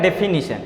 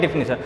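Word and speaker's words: definition: बहुत लोग बोलते हैं डेफिनेशन डेफिनेशन, मैंने यहाँ देखो डेफिनेशन डिफिनीशन डिफिनीशन डेफिनीशन, क्या लगता है कौन सा सही है? स्पेलिंग एरर है ना, पूछता है ना, तो आप देखो बोलोगे गलत तो लिखोगे गलत, समझ लो बात ना। तो इसका करेक्ट प्रोनाउंसिएशन होता है, करेक्ट प्रोनाउंसिएशन मतलब शुद्ध उच्चारण जो होता है डेफिनीशन होता है।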